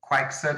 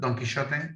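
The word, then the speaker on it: Quixote: don't want to remember or quixot i think you pronounced in english but donkey shot have you anyone has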